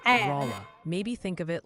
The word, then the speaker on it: Rolla: is emphatically Them both pronounced are mad. Rolla.